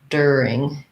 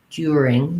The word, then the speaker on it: during: about the word during american english you're going to hear that as you are as the er sound der during um and in british english you might hear it more like during during they might have more of a u sound during but american english